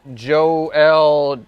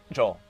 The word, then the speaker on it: Joel: uh a co-author named joe l chasnoff did i pronounce that properly joel joel all of that is only pronounced joel the whole thing is just pronounced joel joel chasnoff okay yeah